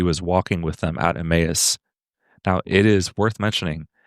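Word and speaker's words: Emmaus: I've gone to an Italian church the past 17 years and it was only recently that I learned that this word is not pronounced a mouse.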